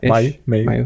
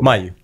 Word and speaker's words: Mayu Thava: I said it right? Yeah. Yeah, Mayu. I get everything. Okay. Yeah. All right. Well, I did my best. What do you prefer to go? Mayu. Mayu. Okay. Mayu. All right.